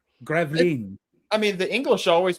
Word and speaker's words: Gravelines: In a 9-hour battle of Gravelines. The English fleet. No, it's called Gravelines. Gravelines. I mean, the English always pronounce it as Gravelines.